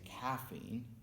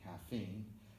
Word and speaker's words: caffeine: to make it but some words only make sense only sound correct if you have stress on the correct syllable so for example we never say caffeine it must be caffeine and we never say